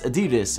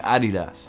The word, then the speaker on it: Adidas: of sneakers of and that's Adidas or if you like to say it wrong Adidas and the first pair